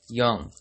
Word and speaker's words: Jung: teachings of Carl Gustaf Young. And that is Young spelled with a J.